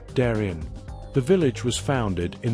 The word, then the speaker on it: Darien: You notice the pronunciation. It's not darin like the gap in Panama. Around here, it's usually pronounced darin.